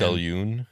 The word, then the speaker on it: Selûne: Well, I'm mad because I like the pronunciation with a hard U, as in Selûne. triune or immune, 2 syllables Selûne. like saloon or Selûne.